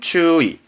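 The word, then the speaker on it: 注意: 발음은 추의. 예, 주의하시라고 할 땐 그죠? 추의. 주의는 추의.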